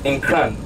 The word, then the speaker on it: Nkran: Nkran, N-K-R-A-N, Nkran.